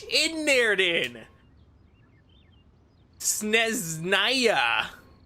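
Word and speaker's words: Snezhnaya: The H is silent. Why put an H in there then? Sneznaya. Sneznaya.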